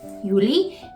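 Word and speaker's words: Juli: and to me that just sounds like a germanized version of the Y so we're good there Yuli and then we have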